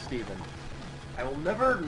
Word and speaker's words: Stephen: chose Steven it's pronounced Steven I will never not pronounce it Stefan I don't know why it's it's sort of like how you pronounce Stephen King Stephan King it's just